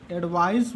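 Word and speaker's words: advice: लेकिन एडवाइज, ये स्पेलिंग में भी है, एडवाइस इसको पढ़ते हैं, इसको एडवाइज पढ़ते हैं।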